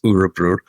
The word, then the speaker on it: Örebro: He's had a hell of a season with Örebro, and that's how it's pronounced, Örebro.